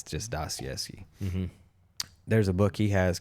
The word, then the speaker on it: Dostoevsky: And I can totally be corrected on the actual Russian proper pronunciation, but for the sake of it, it's just Dostoevsky.